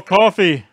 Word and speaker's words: Coffey: man look at that Paul Coffey like the drink only not spelled the same all right sorry I